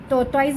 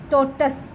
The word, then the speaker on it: tortoise: गलत प्रोनाउंस करते हैं, टोटॉइस बोल देते हैं, टाटॉइस बोल देते हैं, और डिफरेंट तरह के जो है वो इनकरेक्ट प्रोनाउंसिएशंस हैं। तो आपने इसको टोटस, जैसे पर्पस होता है तो ये है टोटस, टोटस।